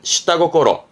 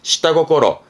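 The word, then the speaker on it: 下心: 발음은 시다고꼬로. 요또도 땡땡 붙어요. 발음은 시다고꼬로.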